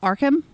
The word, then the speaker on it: Arkham: Is it Arkham? Arkham? Arkham. Arkham? Arkham. Okay, I said it correctly. Arkham Horror. Richard Did you say Arkham Horror?